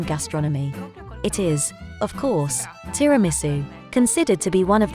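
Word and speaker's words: tiramisù: from there the word Tiramisu and then tiramisu to which the accent on the U was later added tiramisu is one of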